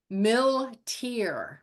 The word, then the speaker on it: Milteer: guest today Lee Lee how do you say your last name Miler Miler Lee Miler is so